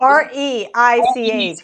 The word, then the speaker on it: Reich: Is that how it is spelled? R-E-I-C-H.